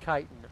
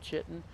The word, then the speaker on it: chitin: look at all that yes i know it's pronounced chitin i really do understand that um i totally understand that but you gotta understand i totally like calling it chitten that's how i said it the first time